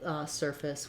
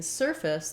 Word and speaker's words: surface: So even though we spell surface with F-A-C-E like face, we don't have a clear vowel because in surface, the first syllable is stressed and the second syllable is short and it has the reduced vowel.